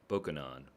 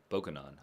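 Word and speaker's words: Bokonon: Bokunon, Bokunon. Bokunon? Bokunon, Bokunon.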